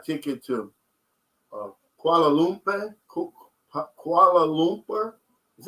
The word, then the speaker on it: Kuala Lumpur: i'll buy a ticket to uh kuala lumpur kuala lumpur is how you pronounce that that's malaysia yeah that's um that's